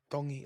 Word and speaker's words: Tongi: Tongi. So, it's almost like a D. Yeah, kind of. It's like in between a D and a T. Tongi like Tongi.